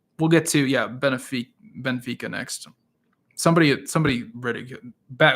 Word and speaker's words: Benfica: and just basically said it's Ben F not Ben a so I think of that guy every single time I I I say Benfica um I try to